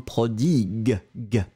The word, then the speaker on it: prodigue: Okay, so the difference between the two will be in the end, first one prodige, je, and then the second one prodigue.